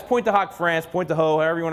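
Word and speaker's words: Pointe du Hoc: the screen right there that's point to hawk France point the ho everyone to pronounce it but it's point to hawk it square our Army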